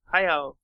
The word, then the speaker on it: Hayao: Hayao Miyazaki. Yes, there you go. Okay. Thank you. Yep, that's it. It's official. Yeah, that's the official pronunciation of his name for this podcast. Hayao Miyazaki.